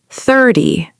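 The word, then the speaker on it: thirty: 30. 30. 30. The stress is on thir. This means 30, like 3 times 10.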